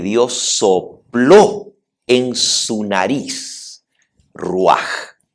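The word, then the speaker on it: רוח: Y aquí la palabra aliento de vida es ruaj.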